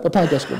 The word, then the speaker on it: Papa Ajasco: I like how you say it, Papa Ajasco. Yes, that's what it's called, right? Papa Ajasco.